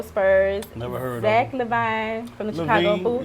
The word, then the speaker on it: LaVine: Never heard of Zach LaVine from the Chicago Bulls. It's LaVine. You better get me right. It's LaVine. You better get me right. See, the L is silent. The L is silent. It's LaVine.